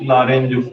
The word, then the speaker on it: Lorentz: Magnetic लॉरेंज force, magnetic लॉरेंज force, T भी है, magnetic लॉरेंज, टी साइलेंट रहेगा इसमें, मैग्नेटिक लॉरेंज फोर्स लिखिए।